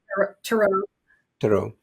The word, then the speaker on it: tarot: this are you doing this T did I pronounce right Taro T how do I say it correct tarot tarot are you doing this tarot reading for money